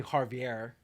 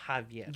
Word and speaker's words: Javier: It's not like Javier, and everybody calls me Javier. I hate that. It's Javier.